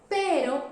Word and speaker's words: pero: Pero is soft. Pero is you need to put your tongue up and for very short time. It's very fast, like r, up, down. Pero, up, down. Okay? With practice, you will can pronounce perfectly. Perro, pero, rosa.